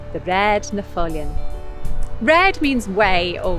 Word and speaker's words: Raad: in this name too often when you see a double a in manx like in red you get an air sound in the middle of